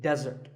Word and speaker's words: desert: and it should not be confused with desert here the stress is on the first syllable which is dead desert now I said that